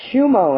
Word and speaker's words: Shumo: That is pronounced Shumo and Associates, people.